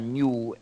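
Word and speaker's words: GNU: del sistema g o se puede pronunciar New en español no hay confusión en español en inglés no se debe Llamar New porque parece decir nuevo pero en español sí se puede llamar New Ah el último componente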